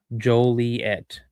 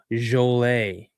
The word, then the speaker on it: Joliet: Juliet is pronounced Joliet. Joliet. Well, since it was a French name, I thought it was Jolle, but okay.